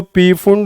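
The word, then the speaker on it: Pfund: और 5वीं आए तो कई जने इसको पी फुंड बोलते हैं, कई सिर्फ फुंड से भी काम चला लेते हैं कि पी साइलेंट, कोई फर्क नहीं पड़ेगा इससे।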